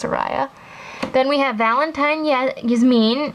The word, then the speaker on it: Soraya: I call my doll Soria, but I think it's pronounced Soraya.